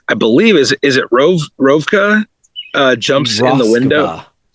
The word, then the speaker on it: Roskva: And as he is completing the spell, I believe is is it Roskva? Uh jumps in the window. Roskva.